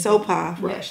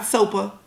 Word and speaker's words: Sopha: Sopha Rush. Yes. Sopha Rush. Sopha. Not Sopa, not Sofa, because that's what you're going to want to say when you see the spelling of her name.